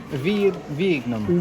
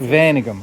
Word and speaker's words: Wijnegem: Wijnegem. Wijnegem. Wijnegem. Yeah, that's Wijnegem.